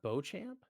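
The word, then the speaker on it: Beauchamp: I know who he is you do it's pronounced Bo champ yeah because I knew someone who had a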